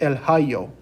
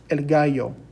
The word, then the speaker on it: el gallo: gallo it uses a g but we don't pronounce it el hayo it's elgayo so a g in spanish may make a